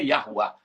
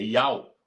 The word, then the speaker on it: IAU: Não é Yahuá, é Ial o nome do criador.